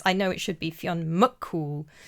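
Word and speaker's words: Fionn mac: It is implying that Mongan is a reincarnation or Fion Mool reborn. I apologize. I keep saying Mac and it should be Muk.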